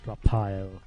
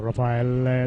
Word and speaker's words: Rafael: the relatives of raphael i was pronouncing it as propyl so rafael that was in the